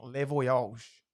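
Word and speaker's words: Le Voyage: you like specialty dining leage that's how you say it it's French I speak French ask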